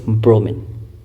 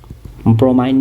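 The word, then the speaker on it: bromine: अच्छा, liquid form में बस हमारा एक ही नॉन मेटल होता है, दैट इज़ ब्रोमीन। ब्रोमाइन भी बोलते हैं इसको कई बार, ठीक है, तो प्रोनाउंसिएशन उतना मैटर नहीं करता, ब्रोमीन, ठीक है।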